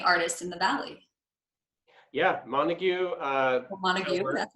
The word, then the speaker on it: Montague: Yeah, Montague.